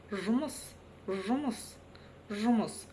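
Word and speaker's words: жұмыс: Жмус, жмус, жмус. Затем мы видим букву ы. Она немножко отличается от русской версии тем, что произносится очень и очень коротко. Жумус, жумс, жумус.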